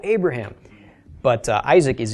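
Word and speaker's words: אברהם: how names are spelled Abraham you would probably recognize from just pronouncing it with Aughra Oh a bruh ham but Isaac is a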